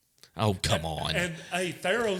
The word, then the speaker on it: Thiero: This year, Is it not Thiero? no, it's Tharo.